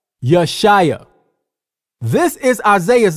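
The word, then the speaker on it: ישעיה: Yeshaya, Yeshaya.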